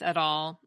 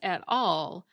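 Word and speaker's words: et al: people will probably ask I've always said and heard it as at all but dictionaries list that pronunciation and at Al so it seems like both are correct so for most Latin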